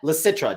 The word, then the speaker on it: Licitra: I am your host, and our special guest is Annette Licitra.